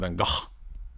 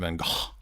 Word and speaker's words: van Gogh: Vincent van Gogh. Did you know that that's how you're supposed to pronounce it? Vincent van Gogh.